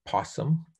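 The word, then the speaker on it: PSSM: scoring matrix and we we pronounce it as possum and so there's a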